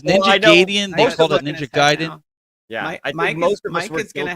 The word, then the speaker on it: Gaiden: oh you got Ninja Gaiden the most like what we had kids in grade school used to call it Ninja gaidian anybody in the chat